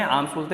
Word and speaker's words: alms: ALMS लिख रहा है, L साइलेंट होता है उसमें, आर्म्स बोलते हैं।